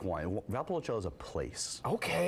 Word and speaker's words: Valpolicella: I'm not even going to try and pronounce that. How do you say this? It's Valpolicella.